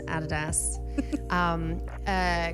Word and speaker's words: Adidas: the added a store you guys say adidas I think yeah the actual pronunciation guys everyone is added ass creators corner at the